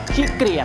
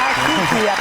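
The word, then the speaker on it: ขี้เกียจ: ไม่ ชอบ ทำ งาน ขี้ เกลียด ครับ เ ขี้ เกียจ ถูก ต้อง ครับ อ่า ออก เสียง ให้ ถูก นะ ขี้ เกียจ อ่า นะ ฮะ ถูก ต้อง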